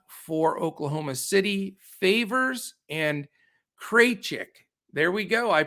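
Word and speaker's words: Krejčí: two guys out for oklahoma city favors and kraychik there we go i pronounced it correctly one of our wonderful listeners sent me uh information saying how to pronounce it it's vit kraychik so thank you sir um so that's the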